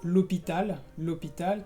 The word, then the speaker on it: l'hôpital: La primera es muy fácil, es la H, porque como en español, la H en francés también es muda. Sí, por ejemplo, l'hôpital, que es el hospital, bueno, o l'heure, que es la hora.